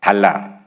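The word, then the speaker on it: דלה: 여기서 끌어내사라고 하는 건 히브리 원문을 보니까 달라입니다. 달라스토어 똑같은 발음입니다. 달라.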